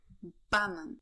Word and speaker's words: banan: Please note that the word stress in Polish is fixed on the second to last syllable. So we read ananas, banan, aleja, gratulacje.